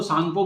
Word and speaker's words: Tsangpo: तो चाइना में उसको सांगपो बोलते हैं। लिख लीजिए टिक मार के, स्पेलिंग देखिए TSANGPO है ना, ये है सांगपो रिवर।